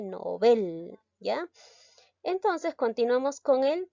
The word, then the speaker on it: Nobel: llegamos a entonarlo inadecuadamente por ejemplo la palabra nobel muchos decimos nobel en si se dice nobel ya entonces continuamos con